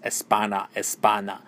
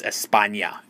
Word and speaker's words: España: The teacher finally said, oh no, honey, it's España.